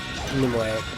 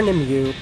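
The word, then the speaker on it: Nimue: Lady of the Lake nimway or nimu as it's pronounced in the game I don't know how it's supposed to be he doesn't have his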